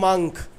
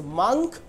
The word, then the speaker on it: monk: monk monk or wants monk monk so right pronunciation is monk so chandan pronounced it well first so right pronunciation is monk so me m o n k mon sadu